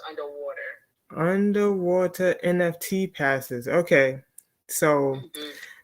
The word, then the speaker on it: UNDW3: Oh, it's underwater. That's how they. Okay. That's how they pronounce. So it's spelled. Since y'all can't see it, it's UNDW3. Okay. And they're saying that it's pronounced underwater.